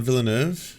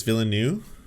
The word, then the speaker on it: Villeneuve: It's not Villeneuve, it's Villeneuve.